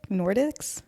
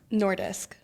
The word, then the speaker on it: Nordisk: Nordics Nordisk.